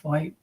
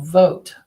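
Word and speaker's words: Vought: Not Voight, spelled like Voight. Russell Vogt.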